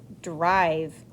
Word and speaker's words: drive: I says its name, so I know I have a silent E at the end.